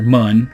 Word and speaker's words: Mun: This is the moon, or mun, however you want to pronounce it. I'll probably be pronouncing it moon.